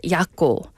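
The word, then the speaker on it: Jaco: yako Island yako Island it's spelled with a J but it's pronounced yako j a c o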